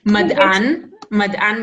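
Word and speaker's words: מדען: Remember that we said that those two dots, they'll almost always be silent, almost always. So it's not even se, it's just you only pronounce it, it's like a silent vowel.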